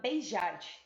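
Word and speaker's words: Béjart: Eu separei uma frase de um pesquisador que se chama Beijart, se escreve Beijart, mas eu fui pesquisar e se fala beijar mesmo, que diz assim: dançar é tão importante para uma criança quanto falar, contar ou aprender geografia.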